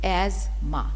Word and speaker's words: asthma: We pronounce it एज एज़मा.